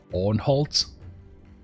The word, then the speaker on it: Unhold: The pronunciation is the German Ornholt. German word for evil creature. Or like Unhold with long.